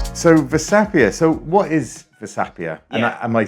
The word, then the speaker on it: Versapia: So, what is Vapia?